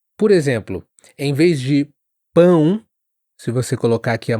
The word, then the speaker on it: pão: Bom, hum, todas essas palavras t uma vibração que acontece aqui, ó, perto do nariz. E muitos falantes em inglês acabam pronunciando esses sons eh de forma mais oral, sem essa nasalização.